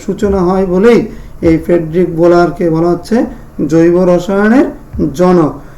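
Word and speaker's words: Wöhler: ওনার নাম হচ্ছে Friedrich বোলার। কেউ উলারও উচ্চারণ করে থাকে, যেহেতু উনি জার্মান, জার্মানিতে ডব্লিউ এর উচ্চারণ হচ্ছে কি ব, এজন্য ওনার প্রকৃত উচ্চারণ হবে বোলার।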